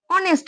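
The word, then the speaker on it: honest: না একই রকম ভাবে এখানে দেখো অনেস্ট পার্সন অনেস্ট ম্যান তো এখানে এইচ এর উচ্চারণটা কিন্তু হচ্ছে না এখানে পাশের যে ও টা আছে সেই ও এর উচ্চারণটা হচ্ছে তো এখানে দেখো এইচ এর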